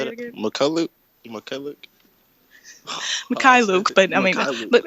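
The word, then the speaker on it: Mykhailiuk: How do you pronounce Svi's last name? McCullough. How you say Say it it? again. McCullough. Mikhailuk, but I mean, Mikhailuk.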